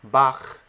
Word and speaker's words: Bach: We can hear it when we think of words like Bach, which is a name borrowed from German, and at the end of the name Bach, we hear that sound for the letter Chet.